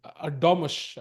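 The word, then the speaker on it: Erdoğmuş: That is, as somebody pointed out, Erdogmus is the correct pronunciation.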